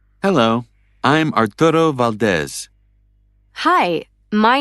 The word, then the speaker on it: Valdez: Actually, it's Valdez.